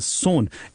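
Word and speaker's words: Son: what we call as सोन इसका हम लिखते हैं एस ओ एन बट इट is pronounced as इट is pronounced as एस ओ एन ई सून देखो सोन revered [गला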